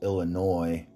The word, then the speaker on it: Illinois: uh first off i'm gonna say i don't pronounce illinois like illinois this is sometimes i'm not thinking